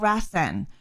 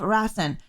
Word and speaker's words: Rasen: stories the sequel to this film is called rasen which was also released in 1998 it is